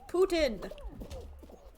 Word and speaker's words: Putin: No, he's not Poutine. He's Putin. Poutine is a food. Putin is a guy. Everyone in your country is pronouncing it wrong.